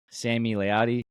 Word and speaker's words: Sami Layadi: As being a huge Survivor fan, we have our first Survivor player, Survivor guest, Sami Layadi. Thank you for coming on. Did I pronounce the name right?